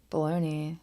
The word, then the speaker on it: bologna: don't know but it's b-o-l-o-g-n-a baloney but I don't think that's how you pronounce it when it's a I